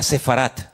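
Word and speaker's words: ספרד: ¿Saben que España, la palabra España, el nombre, el país de España en hebreo que está en la Biblia se se pronuncia sefarat?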